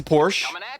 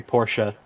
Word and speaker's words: Porsche: No, you just, in German we pronounce all letters, so you have to pronounce the E.